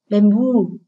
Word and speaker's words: bamboo: Bamboo, hậu tố U là hậu tố nhận trọng âm. Vì vậy, mặc dù từ này là danh từ hai âm tiết, nhưng trọng âm lại rơi ở âm tiết số 2.